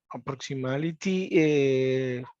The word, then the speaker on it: approximately: Esa T no se pronuncia, sino approximately.